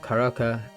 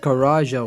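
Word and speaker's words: Karaca: After the Tally Hall hiatus, Ross Featherman and Bora Karaka, okay, I'm freaking pronouncing that wrong, but excuse my freaking accent. It's actually pronounced Karaja, what the They actually still worked alongside with Joe Hawley, and also Subin?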